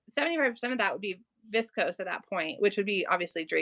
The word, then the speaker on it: viscose: say what is it is it vicos or is it viscose thank you thank you yes I knew I wasn't saying it right so 75 of that would be viscose at that point which